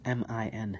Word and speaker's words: min: We're going to say m and we're going to put emphasis on the nasal sound of the min. And we're not going to close our lips.